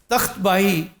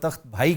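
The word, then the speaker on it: Takht Bahi: तख्त बाही यहाँ का एक लैंडमार्क है जिसको आमतौर पे तख्त भाई कहते हैं। ये मिस प्रोनाउंसिएशन है, तख्त बाही।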